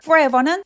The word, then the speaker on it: forever: forever는 forever가 아니라 forever. 강세 에 부분에 있습니다.